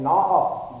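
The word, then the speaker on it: gnaw off: Next है नॉ ऑफ, ji silent है इसमें, GNAWOFF, फ्रेजल वर्ब है।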